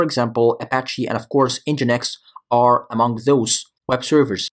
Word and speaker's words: NGINX: servers in the market so let's get started engine X pronounced as engine X of course if you're reading